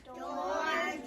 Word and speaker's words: George: name the correct way, you might remember he has a soft G, J. He has these 2 letters working together for a long O sound, George. He has another soft G and a silent E. Probably it's coming over here to make the O long.